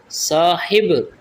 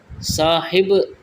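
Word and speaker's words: صاحب: बल्कि मुनाजरा होता है साहिब साहिब नहीं होता बल्कि साहब होता है यह जो आप साहिब लेते हैं यह वाला सब होता है जुमले अव्वल नहीं कहना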